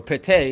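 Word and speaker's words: Ptah: the Builder that's what Fatah or pit a is technically how it's pronounced at Petain that's what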